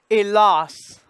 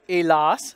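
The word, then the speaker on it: hélas: And then because it's the A here, letter A is followed by the S, it's going to be the darker, elas. And the S is pronounced. It's an exception to the rule. And none other, elas, same word.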